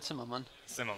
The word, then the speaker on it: Zimmerman: not get wrong Zimmerman is that about right that's how English people say it that's fine how would you pronounce it then Sim Sim okay okay so near